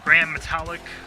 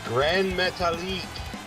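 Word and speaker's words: Gran Metalik: I've heard of all of them, but I don't think I've seen Grand Metallic or Akira. That's obvious since you're pronouncing his name wrong. Well, how do you say it? It's Grand Metalik.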